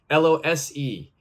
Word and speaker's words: lose: loose l-o-o-s-e and lose l-o-s-e they have completely different meanings pronunciation is also different loose loose lose okay they're very different in pronunciation as well loose means something